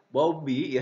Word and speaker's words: Bowlby: Nah, di penelitian yang dilakukan oleh John Bowlby, bacanya adalah Bowlby ya, Bowlby gitu ya.